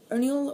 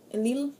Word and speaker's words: Ernil: It's pronounced Ernil or Elil. It's freaking elven language.